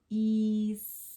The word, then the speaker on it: design: All right, and look, G at the end. This I is going to say its name. Design.